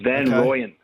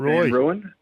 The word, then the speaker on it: Van Rooyen: It's Van Rooyen. There you I've go. been saying Van Ruin, but Van Rooyen is the one, because I think we're going to hear him a lot this year.